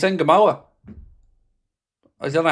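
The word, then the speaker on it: Ngumoha: It's Nemoa. I don't know how it's been slaughtered. That's the pronunciation of his name, is Nemoa.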